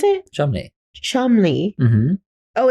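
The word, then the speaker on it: Cholmondeley: okay the way that you say this is Chum Le but you see the way that that's spelled no that's Chumley yeah no but it's it's pronounced Chumley that's a very Posh English name yeah how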